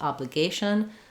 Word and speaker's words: obligation: Then in obliged, letter G says J, but in obligation, letter G says G, like go. And so that's another change. It starts the stress syllable here. Letter A is going to say the A diphthong. And then the T-I-O-N ending is a sh sound and an n sound, maybe with a little schwa, shun or shin.